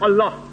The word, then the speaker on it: Allah: Similarly, we know how to pronounce correctly Allah. They say Allah, he said, no problem. The right pronunciation is Allah.